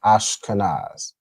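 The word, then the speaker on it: Ashkenaz: You pronounce that as pretty much as how it's pronounced, right? Ashkanaz. All right. Ashkanaz. Okay. So, it's pronounced the same.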